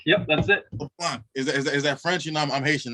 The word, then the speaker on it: LeBlanc: His name is, correct me if I'm saying it wrong, Jesse LeBlanc. LeBlanc. Yep, that's it. LeBlanc.